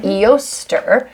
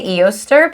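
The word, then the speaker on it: Eostre: saying eoster that's okay i think eoster what does that sound like an oyster yeah it's like it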